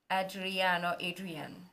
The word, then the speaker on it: Adrian: Yeah, somebody taught me how to pronounce his name, Adrian.